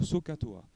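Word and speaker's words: SOHCAHTOA: m'en souviens toujours du collège c'est le mot sookatoa donc sookatoa donc il s'écrit sooh C H t a S a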